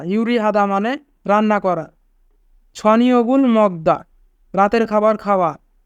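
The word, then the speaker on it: 저녁을: ছনিয়গুল মগদা রাতের খাবার খাওয়া। এখানে বাচ্চিমের পরে ইয়ং থাকার কারণে ইয়ং স্থানে বাচ্চিমটি যাবে, তাই উচ্চারণ হবে ছনিয়গুল।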